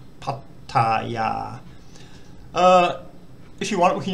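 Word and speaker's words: พัทยา: So pat, tat, ya, not pataya or pataya. Pattaya.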